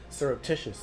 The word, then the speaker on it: surreptitious: I know you're a professor, but there are certain words I don't know how to pronounce. Surreptitious? Surreptitious, there you go.